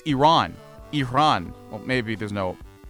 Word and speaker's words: Iran: Because I get a little antsy when people are like Iran or, you know, Iran. Like, no, it's Iran.